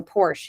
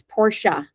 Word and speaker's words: Porsche: And I said, "I want to drive a Porsche." He said, "First of all, it's Porsche. You need to know that that's how true Porsche enthusiasts, they know how to say the name.